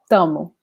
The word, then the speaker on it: tamo: And also instead of saying estamos, we just say tamo. So we drop the first syllable and also the S in the end, very commonly.